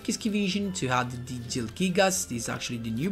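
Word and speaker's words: Zielgigas: Jilgigas, this is the way you pronounce it.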